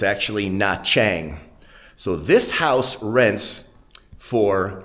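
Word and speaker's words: Nha Trang: n, separate word t, which in Vietnamese tr is pronounced cha, not tra. So, if you've looked at the uh coastal city of of what you might think is Natrang, it's actually Nachang.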